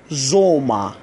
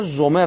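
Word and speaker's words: Sommer: مثل کلمه زوما. زوما یعنی تابستان، همون سامر انگلیسی، زوما. البته عرض کردم اگر زومر هم بگید اشتباه نیست، اما تلفظ بهترش زوما.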